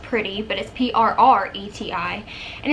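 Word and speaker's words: Prreti: it should just be I think pronounced pretty but if prr ETI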